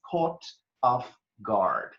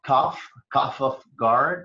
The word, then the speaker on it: caught off-guard: expression the expression is caught off-guard you have to be careful about the pronunciation here is not cough-cough off guard because that would be